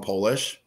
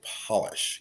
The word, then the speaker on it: Polish: rabbit we call them polish but the correct pronunciation is actually polish because they are to be a neat polished rabbit and their that breed